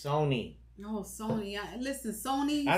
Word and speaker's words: Sony: It's Sony. Oh, Sony. Listen, Sony. I don't know Sony. why you get Sony, because the brand Sony, you pronounce it Sony I know, and not but Sunny.